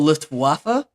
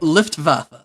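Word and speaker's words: Luftwaffe: no end because uh in German dialect W's are pronounced as V's so it's paner C vagen and lvfa mhm I don't I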